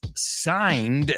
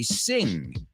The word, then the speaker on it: sign: I was worried because a lot of students not only spell it wrong, but sometimes they say sing. So just remember, sing, la, la, la, la, la, la, la. Sign.